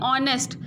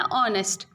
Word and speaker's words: honest: बट यहाँ पे जो एच है वो साइलेंट है, हम इसको पढ़ते कैसे हैं? ऑनेस्ट।